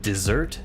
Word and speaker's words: dessert: そうちょっとデザート買いたいかもみたいなことを話した時にこう言ったんです I want some dessert って言ったんですね何にも考えずにそしたら So the stress is here. そうストレスってアクセントその強く読むところの場所のことです So there's two things. So there's two words. There's one is called dessert そう and desert.